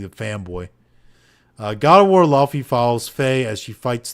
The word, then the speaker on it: Laufey: Like PC Gamer put out an article that was like, it's pronounced Laufey, not Leifey.